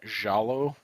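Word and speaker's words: giallo: genre called have you ever heard the term jalo no if you see it red if you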